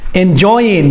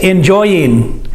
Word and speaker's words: enjoying: and mouth soni italia enjoying by the way you should say this enjoying enjoy is the word enjoy you know that enjoy remember ing you can say it without pronouncing the g i'll let you say